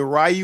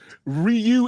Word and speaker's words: Ryu: It's kind of like how people were saying Rayu over the years when it's Ryu.